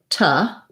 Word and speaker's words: to: using the this tube the to most of the time i'm going to say that as ta it sounds like a reduced vowel rather than an oo sound so you may find